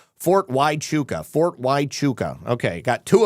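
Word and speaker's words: Fort Huachuca: you to know the base in Arizona is pronounced Fort Wuka." Yes, Fort Wuka. Great shows all week. Love you and appreciate, Lisa. You're not a jerk. I I know that I don't pronounce it correctly. Fort Wuka.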